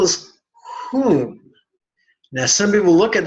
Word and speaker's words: Hum: So the syllable is whom. Now some people look at that and pronounce it hum, but it's whom. Just like the word, if you see in brackets, whom.